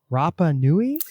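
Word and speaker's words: Rapa Nui: Excited to talk about the book, of course, Moon Chile with Patagonia and Rapanui. Am I pronouncing that?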